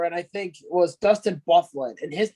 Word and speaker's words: Byfuglien: So would you have guessed it if his name was Bufflin? It's spelled Byfuglien.